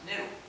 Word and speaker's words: gnu: dictionary the g is silent and it's pronounced new so every time you